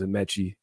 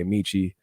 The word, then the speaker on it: Amechi: My name is Amechi. A lot of people say Amici. I'm not Italian. This is an Amici pizza. Amechi, Nigerian. Shout out to all my Nigers.